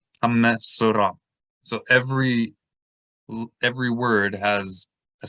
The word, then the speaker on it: Metsora: So for example, this word, which is the name of the parasha, METSORA, right? So that's one syllable. Me, because there's a dagesh in the letter over the shava, that's two syllables. Hamme. So, that's a third syllable, and ra is a fourth. METSORA.